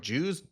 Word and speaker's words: jus: I always say it like that, and everyone's like, Jews?